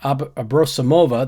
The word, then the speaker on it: Abrosimova: visible on television nikisha sales Jen Rosati Svetlana abrosimova that's how I learned to pronounce that properly and sveta is the abbreviation